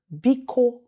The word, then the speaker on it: biko: famous in ibu is be ko magic word biko means please vico please can we say that together you